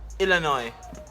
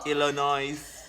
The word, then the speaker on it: Illinois: Illinois.